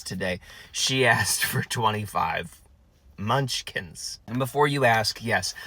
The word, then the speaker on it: Munchkins: my inability to say the correct word munchkins I think that's it is it munch I see I say it right there just fine instead in the drive- through the very first time I said Munch holes and the second time